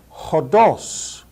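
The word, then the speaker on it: ὡς: to the next word Hos Hos notice the rough breathing Mark over the initial vowel hos the next word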